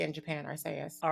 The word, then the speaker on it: Arceus: I think the official way is Arceus, is because that's how they say in Japan, Arceus.